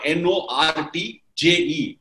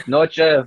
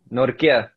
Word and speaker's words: Nortje: It has got N-O-R-T-J-E. In India, we will definitely call it as Nortje. And how are we supposed to call you? It's Nortje, but Nortje, whatever you're using, that's fine.